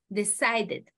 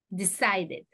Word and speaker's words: decided: Cuando termina con un sonido D, la palabra, ¿no es cierto? Entonces esto suena, agrega una sílaba. Decided. Agrega una sílaba, la sílaba ED. Decided.